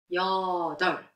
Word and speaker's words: 여덟: When you write, it's a real view, but when you pronounce, it is 여덟.